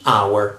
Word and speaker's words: hour: V the exam the hour and in this case the word starts with the vowel okay the exam and obviously we have H here but the H is mute so we don't pronounce it so the our consonant